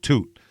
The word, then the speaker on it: Tweet: Fred Tweet, I guess you'd call it. It's like suite, like a hotel suite with a T, but they call him Toot.